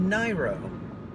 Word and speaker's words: Niro: the panelists corrected me and said actually it's pronounced nairo okay I got to tell you I don't